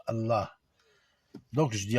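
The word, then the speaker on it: الله: Allah. Donc, un. Et encore, si vous voulez, vous ne prononcez pas le A à la fin. Allah, Allah.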